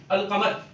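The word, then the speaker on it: القمر: और उर्दू में कुछ अल्फाज ऐसे हैं कि जिनके शुरू में अलिफ लाम लगाए तो वो पढ़ने में आता है। जैसे कि आप लोग अल-कमर, अलिफ के कमर के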